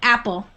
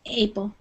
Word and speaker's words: apple: there would be um Apple I think you said a APLE that like that would be more like a long a sound so the short a sound is the beginning a apple okay yeah good okay